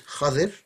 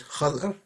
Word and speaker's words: Khidr: Khidr, so there's three ways of pronouncing this as far as I know. One is Khadir, one is Khadr, and one is Khidr. I'm going to say Khidr because that's the one I'm used to.